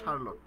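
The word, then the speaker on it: Charlotte: এখন সারলট ব্রন্টি বানানটা কিন্তু এরকম। তো আমি এটা মনে রাখতাম চার লটি। সি এইচ এ আর এল ও ডাবলই চার লটি। এটার উচ্চারণ হচ্ছে সারলট।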